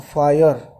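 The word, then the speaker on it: fire: Question number 16 की बात करें तो फायर, कौन कौन से साउंड है? स्पेलिंग बोलिए। फायर, र तो बोला नहीं जाता ना, फायर।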